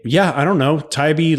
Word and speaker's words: Tybee: all of them say yeah I don't know taibi like of course why wouldn't you go to